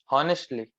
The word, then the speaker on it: honestly: Honestly. It's It's honestly. not. H is silent.